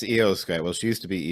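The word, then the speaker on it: Iyo Sky: was letting you say the name because I butchered it last time it's EOS guy well she used to be EO shirai and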